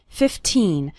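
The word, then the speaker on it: fifteen: 15 minutes a day remember to pronounce the second syllable of 15 nice and strong 15 not like 50 which is a different number 15 minutes a day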